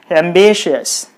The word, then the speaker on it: ambitious: So you put the stress on the syllable B, then it will be ambitious. Ambitious.